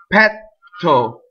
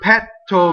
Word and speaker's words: petto: This is another dangerous word because this word petto means breast or chest, but with a single T it means fart. So petto is fart, right? So you want to double the T in this word.